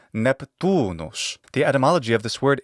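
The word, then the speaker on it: Neptunus: Neptune or Poseidon so in Latin Neptune is neptunos the atmology of this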